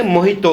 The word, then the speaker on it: Mojito: ඒක හරියට කියනවා Mojito කියලා තමයි ගොඩක් අය කියන්නේ. but අපි pronounce කරද්දී ඒක කියන්නේ Mojito කියලා, right?